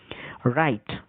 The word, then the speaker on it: write: রাইট, WRITE, তাহলে ডাব্লু উচ্চারণটা থাকলো না, ডাব্লুকে ছেড়েই উচ্চারণ হচ্ছে রাইট, র দিয়ে আর এর উচ্চারণ থেকে শুরু হচ্ছে।